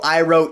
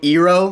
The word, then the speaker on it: Iroh: I mean, I already said that they call Aang Ong in this movie, but like they call Iroh Ero.